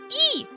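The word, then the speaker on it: い: E is always pronounced like an E in the word sleep.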